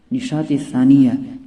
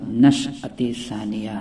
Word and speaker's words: نشأۃ ثانیہ: وہ ہے نشاط ثانیہ۔ نشاط ثانیہ یہ غلط تلفظ ہے، جبکہ صحیح تلفظ اس کا نشأۃ ثانیہ ہے۔ پانچواں لفظ دوستو جو